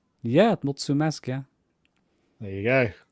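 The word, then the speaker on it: mulțumesc: do you say it you want to try multimask multimask well done was that right yeah mutsu mask yeah there you go it's the first time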